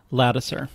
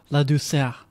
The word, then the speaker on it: Ladouceur: Is the Americanized version of a French-Canadian surname. It's French-Canadian? Yeah. Oh, how would you pronounce it as a French-Canadian? I probably won't do a good job, but Ladouceur. That sounds really nice. Because it means the sweetness.